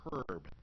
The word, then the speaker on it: herb: all the time because like the word herb right they pronounce the h it they say herb whereas most people would probably say herb well it's a good